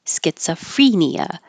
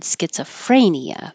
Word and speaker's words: schizophrenia: And schizophrenia is what the Merriam-Webster had the pronunciation as free, schizophrenia. I've always said schizophrenia, so I'm sure you will hear that as well, but I'm going with what Merriam-Webster had here.